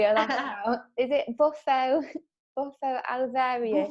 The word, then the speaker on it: Bufo alvarius: ceremonies for, and I'm going to try and pronounce it. This is going to be a laugh now. Is it Bufo Alvarius? Bufo Alvarius.